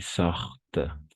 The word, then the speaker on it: sortent: O sea, ENT va a ser mudo. D'accord? N'oubliez pas ça. Ici, par exemple. Ici, veulent. No vamos a pronunciar solo hasta el veulent. Attarde. Se atrasan. Et sortent.